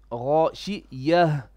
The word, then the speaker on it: غاشية: a stop on it, the ta marbuta becomes a ha, bottom third ha, with a sakina or a sukun. Is this clear? So we say Ghashiyah. There's a bit of Ghashiyah. You have to pronounce the letter ha.